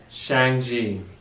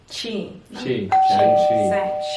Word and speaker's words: Shang-Chi: So the movie we just watched, can you pronounce it? Shang-Chi. Shang-Chi.